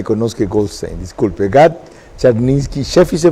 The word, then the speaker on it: Czarninski: Gad Charninsky Sheffi, ¿se pronuncia?